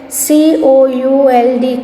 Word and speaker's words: could: COULD, could. L is silent.